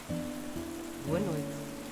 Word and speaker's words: Boa noite: Pronunciation. Boa noite.